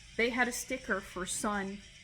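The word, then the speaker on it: Sunn O))): had a sticker for sun it looks like it's pronounced sonno but it it's actually Sun the Drone metal band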